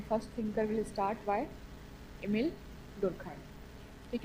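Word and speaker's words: Émile: इस बात को क्लियर हमेशा जब भी प्रोनाउंस करें खुद से भी तो इमिल डुरखाइम। क्योंकि कई बार हम इमाइल बोलते हैं।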